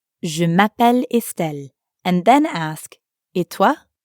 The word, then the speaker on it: je m'appelle: say my name is notice how it Blends together je m'appelle mapelle let's practice repeat after